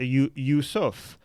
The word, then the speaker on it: Yusuf: The Arabic version of it is correct. Yusuf.